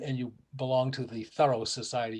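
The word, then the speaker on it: Thoreau: you belong to the thorough society you may pronounce the name thorough because that's the way the family pronounced it and the concord takes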